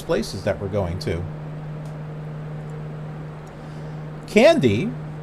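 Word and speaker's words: Kandy: that we're going to candy with a k pronounced okay hold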